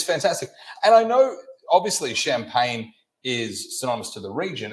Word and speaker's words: Champagne: And I know, obviously, Champagne is synonymous to the region, and that's for good reason, I suppose, in that it's mandated by law. It's not Champagne, it's Champagne. Champagne.